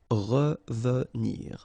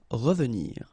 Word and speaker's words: revenir: Okay, remember that is pronounced really like a. Revenir. Revenir.